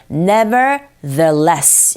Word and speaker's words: nevertheless: 번째 빈칸에 들어갈 말들이 nevertheless 발음하실 때 th 발음은 the 이렇게 입모양 잡아주셔야 돼요. 그냥 우리식대로 더가 아니라 nevertheless 이렇게 발음해 주셔야 되는데 그럼에도 불구하고 빙하는요 보이는 것만큼 보이는 것처럼 많이 로맨틱하진 않습니다.